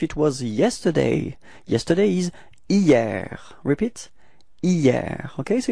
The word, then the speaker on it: hier: Okay, so it's quite funny because actually it does start with a H, but then in French we don't pronounce H, so we've got the sound hier, hier.